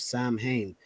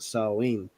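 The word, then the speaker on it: Samhain: date back to the ancient Celtic Festival of Sam Hayne which is pronounced salween the salts who lived 2 000 years ago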